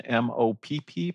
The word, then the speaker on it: MOPP: means of patient protection mopp pronounced mop the first one is